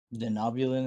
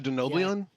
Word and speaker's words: Denobulan: Denobulan is pronounced a denobian. Yeah, he said that wrong.